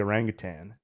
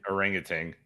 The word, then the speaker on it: orangutan: Orangutan. That's how I always said it growing up, but there's no G at the end. And if you look it up, the pronunciation is orangutan. There's a G.